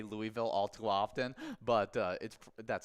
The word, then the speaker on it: Louisville: Everyone say Louisville.